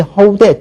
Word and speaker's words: 허우대: 원래 허위대가 멀쩡한 사람이 이렇게 얘기를 하죠. 그런데 대부분이 허우대 쪽으로 발음을 하니까 이거 역시 허우대 쪽을 지금 표준어로 정했습니다.